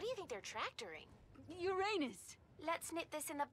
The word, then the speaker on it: Uranus: I don't mean to be a prude, but please, no jokes about Uranus. Besides, the proper pronunciation is Uranus. It's a dactyl.